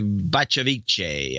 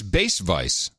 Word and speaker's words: Bacevice: Clay Bacevice, I think. In Miami, Florida. It's Bass Vice.